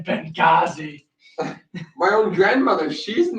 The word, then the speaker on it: Benghazi: It's the fucking H is silent in Benghazi.